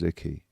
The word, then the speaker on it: Icke: And I'd like to welcome to the stage Gareth Icke, everyone. Please make some noise. Thank you. Pronounced his name wrong, love. His name's Icke. Gareth Icke.